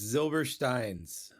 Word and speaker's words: Zylberschtein's: Line's oi it's a mouthful how do we pronounce the name of your Deli correctly it's zilver Stein's and how did you come up with that